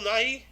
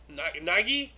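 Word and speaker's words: Nighy: Bill niley or Bill Nye Nagi how do you pronounce that name I don't know 1994 asteroids I'm sorry I am not sure it's n-i-g-h-y nahi like Nike I I don't know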